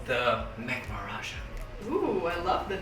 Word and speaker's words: Maharaja: All right, so we're going to get started making this super juicy, delicious Maharaja burger.